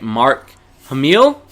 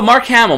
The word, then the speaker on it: Mark Hamill: is a guy named let me see by pronouncing this right mark Emile Oh Mark Hamill Mark Hamill voices fair fair spoil you almost